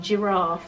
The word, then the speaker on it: giraffe: a letter for example um giraffe that's that's one that's really a tricky one it obviously begins with the g but it makes the soft g sound like a j so um don't say